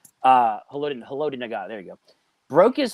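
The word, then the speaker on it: Haloti Ngata: The broken nose by Holy Nagata, or whatever you say his name. Haloti Nagata, there you go.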